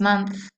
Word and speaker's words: month: la semana pasada, last month, el mes pasado. Cuidado con la pronunciación de month, que es con A, last year, que es el año pasado.